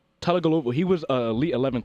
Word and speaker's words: Tagovailoa: I don't even know how to say his name. Talakalova. Oh, now you done messed me up. I said it right the first time. Tagovailoa. Tua Tagovailoa.